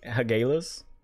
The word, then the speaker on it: hagalaz: off of chicken nuggies hagalaz strength uh it's pronounced hageles what if with that